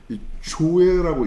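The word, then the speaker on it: ζωή: 여기서 이 생명이라는 단어는 헬라어의 조에라고 있습니다. 조에. 여러분 아주 중요하고 그 성경에서 너무나도 많이 등장하는 원어 정도는 외워두십시다. 조에, 생명, 조에.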